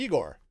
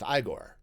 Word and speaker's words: Igor: And it's like, ah, so you must be Igor. No, it's pronounced Igore.